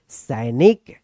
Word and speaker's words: सैनिक: सौ पे आई की मात्रा है तो इसका क्या उच्चारण होगा, सै। नौ में छोटी की मात्रा है तो नी, अक्क, क्या होगा, इसको हम लोग पढ़ेंगे सैनिक। क्या पढ़ेंगे हम लोग, इसको पढ़ेंगे सैनिक।